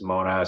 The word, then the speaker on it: Monast: It was originally Mona, then they added an ST, but they still pronounce it as Mona. So I go as either way, Monast or Mona.